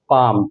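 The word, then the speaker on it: palm: रहा है प्रोनंसिएशन करेंगे पहले पाम क्या प्रोनंसिएशन हो रहा है पाम अब स्पेलिंग में क्या है एल आ रहा है लेकिन एल यहां प क्या है एल का साउंड उसमें नहीं आ रहा है प्रोनंसिएशन करने में नहीं आ रहा है तो क्या करेंगे एल इसम ओट है उसको कम करके रखते हैं पाम तो लिखेंगे हम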